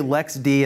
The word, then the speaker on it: LXD: those who have no idea when we say Lex D and Lexi don't go Google le XD it's lxd and lxc but it's pronounced in the community as Lex T and